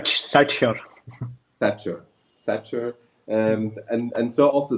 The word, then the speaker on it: SatSure: time about Satsure or Satsure, how do you pronounce it, Prateep? It's Satsure.